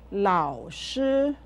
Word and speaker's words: 老师: I'll say the syllables of 老师 slowly. La, ao, lao, lao, shi. Now, say 老师 with me. 老师.